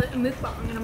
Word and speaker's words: mukbang: But ever since then, I've heard it called both ways, so I looked up how to say it, and it's mukbang.